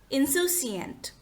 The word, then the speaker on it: insouciant: Next word is insouciant, which is also an adjective. We have a very simple and funny mnemonic for this word, which is hidden in its pronunciation. Listen how you pronounce this word, insouciant.